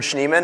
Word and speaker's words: Schneeman: schneems on the internet a lot of people have a difficult time pronouncing this I say it's it's kind of like schnauzer or schnapps some some people think that's a little bit easier so um I really